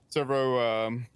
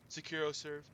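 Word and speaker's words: SecuroServ: Do you know how to say it? Securo serve. Yeah, there we go.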